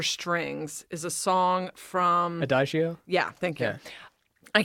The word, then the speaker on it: Adagio: And I don't know how you pronounce this word. You shouldn't say it. Adigo for strings is a song from... Adagio?